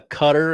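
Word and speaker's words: Qatar: want to talk Bosnia Cutter at 2:00 on FS1? Cutter. Both pronunciations are acceptable. Cutter is it's that's a You can say it like like the diamond cutter?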